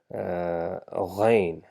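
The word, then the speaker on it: غين: Okay, so this again we have to make sure that we have vibration in our throat while producing this sound. So just notice we have gha, gha, just where your mouth ends and your throat begins. You just need to vibrate gha over there.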